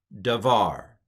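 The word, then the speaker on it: דָּבָר: And then this is a bet, but because it doesn't have the dot in it, because it doesn't have the dagesh in it, it's pronounced like a V.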